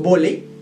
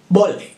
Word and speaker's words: volley: No decimos volley, it's volley, volley, volley. ¿Lo viste? Exagero la L, pero de una forma un poquito ridícula, pero así es como se pronuncia.